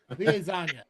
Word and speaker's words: liaison: No, how do you pronounce that word? Liaison. The liaison. Every time I say, I keep thinking lasagna. Liaison.